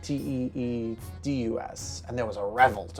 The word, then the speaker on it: Tidus: base would pronounce it Titus, Tidus. But apparently, according to Square Enix, like the game developer, it's pronounced Tidus, like Teedus, and there was a revolt over that.